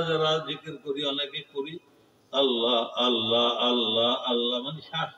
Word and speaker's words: আল্লাহ: আল্লাহ আল্লাহ আল্লাহ লেখতে শেষে আল্লাহ যে লেখে আমরা সেপাড়ায় পাই, আমপাড়া পাই, কোরআনে পাই, লব্জাল আল্লাহর পরে একটা হা আছে, গোল হা, আল্লাহ।